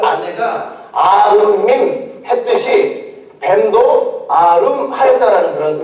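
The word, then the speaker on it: עֲרוּמִּים: 저 벌거벗었으나가 히브리어로 어떻게 발음을 하냐면 아룸밈이라고 발음을 해요. 아룸밈.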